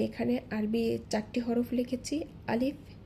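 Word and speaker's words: ألف: লক্ষ্য করুন যদি ভেঙে উচ্চারণ করি আ লিফ যখন আমি লিফ বলছি সেক্ষেত্রে সামনের উপরের দুই দাঁতের আগা নিচের ঠোঁটের পেটের সাথে লেগে হালকা একটু বাতাস জারি থাকবে অর্থাৎ চালু থাকবে আলিফ আলিফ লক্ষ করি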